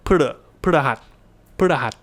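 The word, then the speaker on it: พฤหัส: really say the pa, the p with a pronounced vowel. You just sort of p, and then go straight into the r. So พ ฤ ห ั ส ว ั น พ ฤ ห ั ส.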